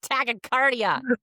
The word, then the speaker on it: tachycardia: you get to do it while you have tachycardia.